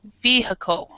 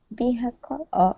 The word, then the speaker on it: vehicle: as far as the pronunciation we actually don't pronounce the I it's kind of awah sound so we say vehicle vehicle vehicle vehicle vehicle vehicle and of course the